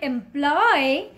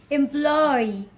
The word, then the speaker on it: employee: Don't call it employ. The correct way to say this word is employee. Employee. In the end, you can see double E, right? So call it employee.